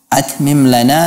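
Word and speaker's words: أَتْمِمْ لَنَا: Tapi ucapkan at mim lana, at mim lana nurana.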